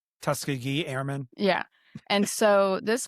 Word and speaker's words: Tuskegee: and they were like, it's Tuskegee, and I was like, sorry. Tuskegee. Yes, I say yeah. Tuskegee. Tuskegee. Because this is the way it's spelled. It has a G in it.